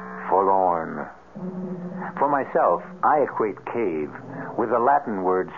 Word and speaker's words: cave: in stygian cave forlorn for myself i equate cave with the latin word spelled the same way c-a-v-e but pronounced cave it means beware our cast included